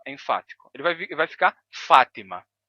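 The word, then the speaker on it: فاطمة: exemplo o nome árabe o nome árabe Fátima pronunciado assim em árabe com o som de t o t enfático Fátima Fátima quando ele passa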